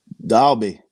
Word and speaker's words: Dalby: And now, can you pronounce this one, guys? This town? Dalby.